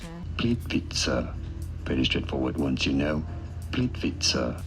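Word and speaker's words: Plitvice: Plit vice. Plit vice. I speak Croatian. Plitvise. This is American pronunciation. How do you say it in Croatia? Plit Vitza.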